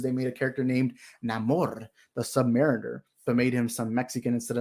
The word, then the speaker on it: Namor: these characters from wakanda they were pronouncing his name Neymar instead of Namor and I'm like but